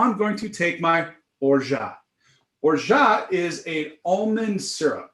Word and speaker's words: orgeat: It's actually spelled like orgeat or orgeat, but the French say orgeat. They say orgeat. I say orgeat. Now you will say orgeat.